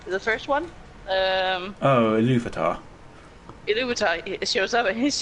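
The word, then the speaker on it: Ilúvatar: And when the, how do you pronounce his name? The first one? Oh, Iluvatar.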